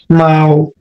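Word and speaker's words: 猫: মাও এটা হচ্ছে ফার্স্ট টোন, এই টোনটা হচ্ছে ফার্স্ট টোন, উচ্চারণটা হবে মাও। মাও মাও হ্যাঁ, বিড়াল যেমন ডাকে ম্যাও ম্যাও করে, সেম কিন্তু এই শব্দটা কিন্তু এরকম আসতেছে, ম্যাও, এটা হবে মাও।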